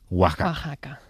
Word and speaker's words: Oaxaca: en este caso concreto también puede pronunciarse como una J en ciudades como Oaxaca Jalapa Y por supuesto México que se escribe con x pero se pronuncia México Así que igual que México se pronuncia México oaca escrito así se pronuncia Oaxaca er pregunta fuiste el